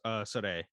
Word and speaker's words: Sarai: Um, like uh, the first documentary we watched was about deportations of a Cambodian man named Sarai. Sarai, I think, right? Yeah, I think it's pronounced Sore.